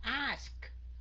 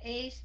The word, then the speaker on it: ask: trong room nói cái cái động từ này đọc là không phải các anh chị mà nó là ask hả miệng ra có cái âm k ở phía sau ask chứ không phải là is nha các anh chị